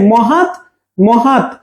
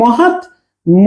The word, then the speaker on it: মহাত্মা: কিন্তু প্রথম অংশে সেম মহাত মহাত কিন্তু এখানে মহাত ম হয়েছে হ্যাঁ আর এখানে মহাত্মা হয়েছে হিন্দিতে এটাকে মাহাত্মা বলে মাহাত্মা আমরা বাংলাতে মহাত্মা বলি এটাও মহাত্মা উচ্চারণ এটাও